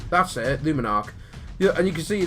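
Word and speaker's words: Luminark: I knew I was going to mispronounce it on the video. I've been practicing it. Luminarch. That's it. Luminarch.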